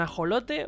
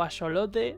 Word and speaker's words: ajolote: Así que va a ser un ajolote, bueno, o axolote, depende cómo lo quieras pronunciar, con alas estrelladas.